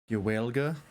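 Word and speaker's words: Gaeilge: Also, it's pronounced Gaelga.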